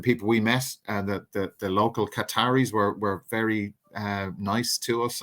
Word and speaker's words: Qatar: hear Qatar I've actually finally learned how to say it properly, Qatar as opposed to Qatar, which sounds like that stuff gets stuck in your throat.